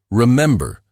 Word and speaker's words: Remember: Remember, stress on the third syllable.